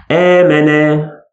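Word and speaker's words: آمن: We pronounce it as double A sound. Eh. Not only A. Eh. There is a little stretch. Eh. Let's have an example. Amana.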